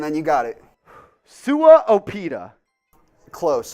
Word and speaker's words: Opeta: Sua Opeta. Close. Opeta.